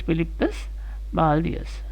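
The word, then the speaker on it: Philippus Baldaeus: Philippus Baldius, pronounced as Philippus Baldius.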